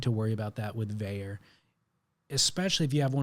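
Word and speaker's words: Vaer: you never need to worry about that with vayer especially if you have one of the automatics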